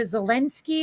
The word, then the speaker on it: Zelensky: uh but then what's what's the guy in ukraine is a zelensky is how it's pronounced yeah uh what does